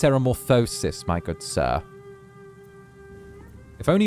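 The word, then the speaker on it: ceremorphosis: It's pronounced ceramorphosis, my good sir.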